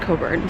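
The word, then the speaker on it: Cockburn: It's pronounced Coburn, spelled not like that.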